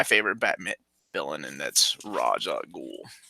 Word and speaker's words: Ra's al Ghul: to bring up because Omar said Raj. Well, it's like as if his name is Roger. So I'm just gonna Roger al Ghul. Yeah, Roger. He's my next door neighbor, Mr. Rogers. But it's supposed to be Ra's al Ghul, but also a lot of... How did Dennis O'Neil say it? I don't know how he specifically said it, but I just know that there's a lot of official things that say Raz, and there's a lot that it's...